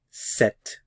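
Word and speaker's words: sept: c c c c set set remember the P represents no sound here set set the H is silent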